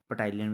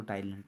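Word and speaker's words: ptyalin: इसको कहते हैं ना, पटाइलिन भी कहते हैं हम इसको, लेकिन होता है इसको टाइलिन, P साइलेंट होता है इसमें।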